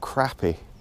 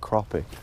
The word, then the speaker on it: crappie: called crappies but it's it's spelt with an A so it's spelt crappy which is what I wanted to call it when I first read it but just watching so many people call it cropping that's really cool actually